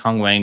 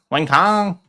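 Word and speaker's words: Wang Cong: But it's not like Jack It's not like Kong Wang is like that much younger. How old is Kong Wang? Wing Kong. Wang Kong. That's how you got to say her name.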